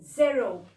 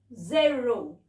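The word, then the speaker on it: zéro: और इसको प्रोनाउंस कैसे करते हैं? ज़ेरो. ज़ेरो. ज़ीरो हम लोग वैसे नॉर्मली क्या बोलते हैं नंबर सिस्टम में? ज़ीरो. बट in French we से ज़ेरो.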